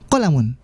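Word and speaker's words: قَلَمٌ: empat kali yang pertama dibacanya qolamun qolamun qolamun qolamun qolamun yang kelimanya betul dan keempatnya kurang tepat Nah kenapa pendek semua tekan ha kalau seandainya kita mau check lagi bukunya sedangkan saya enggak bercahaya ini bacanya kolam On ini silakan dicek bukunya pendek semua ya jadi sekali lagi ini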